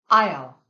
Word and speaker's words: aisle: In these words, the silent S follows an I. Repeat after me. Aisle, aisle.